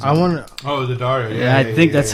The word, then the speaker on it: Daddario: That's how you pronounce the last name because of Daddario strings, I believe, like guitar strings. I want. Oh, the Dario.